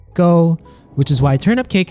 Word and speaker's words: 糕: We talk about this in our Taro Cake and Nian Gao videos, The words for “cake” and “high” Share the same pronunciation, “gōh”, Which is why Turnip